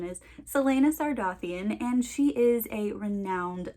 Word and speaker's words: Celaena Sardothien: There is a pronunciation guide in the back of the book, just so you know that I know what the pronunciation is. Celaena Sardothien, and she is a renowned assassin.